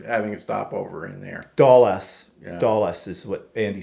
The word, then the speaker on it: Dulles: But Andy says at Dallas Airport in Virginia. Is it Dallas or Duluth? How do you say that? Dulles.